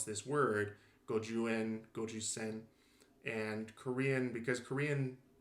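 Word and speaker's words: 十五円: So Koreans might say jukoen, kochusen, as opposed to gojuen, gojusen.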